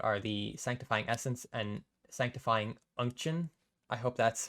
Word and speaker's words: Sanctifying Unction: But the new, I guess, items to talk about are the Sanctifying Essence and Sanctifying Unction.